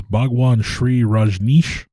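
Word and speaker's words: Bhagwan Shree Rajneesh: a secretary to the main guy, which was Bhagwan Sri Rajneesh. I believe that is, yes, that's the correct pronunciation.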